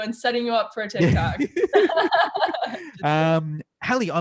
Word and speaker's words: Hallee: a lot of times i get haley halle all over the place but yes you got it right well i did a